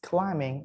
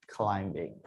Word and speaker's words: climbing: dangerous as free climbing remember when you say climbing it is silent so it's climbing not climbing okay so now let's